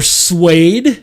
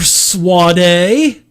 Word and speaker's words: SWADE: savage worlds adventure edition or suede as some people have called it or suave some people have called